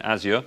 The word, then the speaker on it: Azure: In my presentation this morning, we talked a lot about how we use Azure, so I'm getting used to the pronunciation, Azure. I still find when I talk to some IT pros, they don't get it, they don't get the cloud.